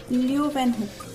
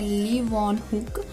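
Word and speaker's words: Leeuwenhoek: लियो वैन हुक, इनका सही pronunciation है ली वॉन हुक, जिन्होंने फर्स्ट लिविंग ऑर्गेनिज्म देखा था माइक्रोस्कोप के अंदर।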